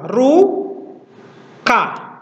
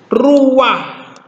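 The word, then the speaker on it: רוּחַ: depan ya ini ya kalau kita baca secara biasa ini akan kita baca apa ru ka ruka ya kita akan baca ruka ini ru dan ini ka tapi yang ini Perhatikan semua ini disebut sebagai furti patah yang artinya dia harus diucapkan terlebih dahulu bukan ruka tapi ruah ya bukan ruka tapi ruah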